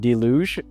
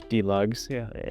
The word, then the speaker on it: Delugs: tried these straps from Duj? And I was like, what? And then I I was like really confused. And then we we learned that we were just pronouncing it wrong. It was DUGs.